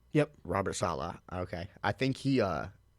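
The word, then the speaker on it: Saleh: Salah I I think Robert right yep Robert Salah okay I think he uh man I I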